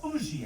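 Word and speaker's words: Huger: of a Miss u a Benjamin sugar or Uzi as he like to pronounce it an out Patriot but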